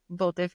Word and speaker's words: Bota: Well, one of the questions was how does your creativity go into bote? Is it bote farms? Is that how you Bota. pronounce it?